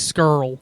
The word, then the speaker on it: Scurll: No, that's Marty right. Scurll. That's how you say it. That's it. Scurll?